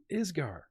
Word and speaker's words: Isger: The country, because I constantly pronounce it wrong. Isger.